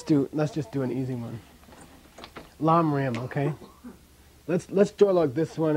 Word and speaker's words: Lamrim: Pronounce this? Lamrim.